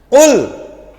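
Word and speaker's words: قُل: Jangan kul biasa. Kalau kul biasa itu kaf, ya. Qul artinya apa? Katakan. Kalau kul biasa artinya apa? Pakai kaf. Makanlah. Loh, beda kan artinya? Salah pengucapan beda arti.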